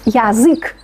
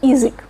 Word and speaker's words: язык: Por ejemplo, la palabra язык no pronunciamos язык, sino язык.